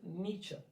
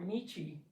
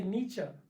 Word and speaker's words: Nietzsche: it is about academia they're really big on pronunciation like worse than the french so if you say nietzsche or nichi they're gonna look at you like oh obviously you went to community college so say nietzsche nietzsche is the name okay so nietzsche all